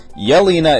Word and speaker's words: Yelena: hour of the movie that i forgot okay yelina is the sister and malina is is the the mom and that's how you pronounce them and then anatali and anatoly and